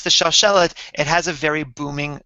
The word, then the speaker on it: Shalshelet: This is the way in which I personally pronounce it, and according to one tradition. It sounds like this. Shalshelet.